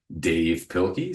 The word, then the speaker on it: Dav Pilkey: Anyway, this is based on a series of books by Dave Pilkey, spelled like Dav Pilkey, who did Captain Underpants.